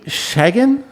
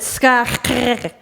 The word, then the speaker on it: Schagen: When you're there, you pronounce it Schagen. We like being worldly on this show, Right? so that's really good. But we'll stick with Schagen.